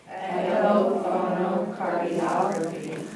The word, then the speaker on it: echophonocardiography: Remember the accent is on og. Echophonocardiography. Say it. Echophonocardiography.